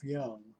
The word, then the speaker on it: Jung: very interesting man and by the way young is spelled j-u-n-g he was often his